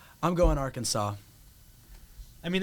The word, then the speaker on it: Arkansas: the state, like, heritage, like the pronunciation comes from when the French, like, were there before, like, the Louisiana Purchase. Uh-huh. And so, therefore, like, we would say, like, Arkansas in, like, a English, like, phonetic Oh. pronunciation, Yeah, of but course, yeah. Arkansas comes from the, like, French, like, Oh. pronunciation, Oh, I guess yeah.